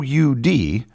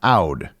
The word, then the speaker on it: oud: The Middle Eastern instrument pronounced O U D I called an Aud and it should be pronounced ud.